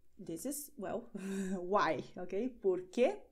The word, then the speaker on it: por quê: Porque, porque, you pronounce it the same way, and both have the meaning of why.